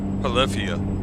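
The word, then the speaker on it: Polyphia: Check out Polyia, their new their their new modern killer, the Gym 7. Polifia, that's how you say it.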